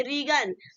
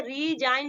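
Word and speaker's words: resign: देते हैं सेकंड वाला रिजाइन अभी इसने पढ़ेंगे रीगल ठीक है रीगल नहीं पढ़ेंगे जिसको हम क्या पढ़ेंगे रिजिन पढ़ेंगे ठीक है यहां पे देखिए आर आई आई जी ल एन से पहले आपका क्या है जी है जब भी ऐसे पहले जी आएगा तो वो आपका क्या होगा साइलेंट रहेगा तो इसको हम क्या बोलेंगे रीजन ठीक है डिजाइन ठीक है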